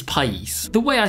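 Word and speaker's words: país: wants to speak Spanish the way you say country is Pace the way I said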